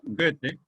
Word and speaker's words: Goethe: el romanticismo, lo habíamos dicho, empezó en Alemania con Goethe, escrito Goethe, con TH, Goethe, pronunciado Goethe, y que hemos mencionado ya dos obras fundamentales de él.